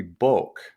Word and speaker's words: book: So the word book, for example, used to be boke, and that's why we spell it to this day with two O's.